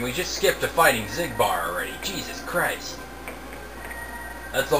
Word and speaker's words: Xigbar: he became a nobody he had an X and it's like zigbar what's going on here